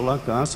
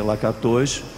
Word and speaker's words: Lakatos: e também um outro chamado Lacasse, a minha pronúncia provavelmente está errada, devia ser Lakatos, L-A-K-A-T-O-S.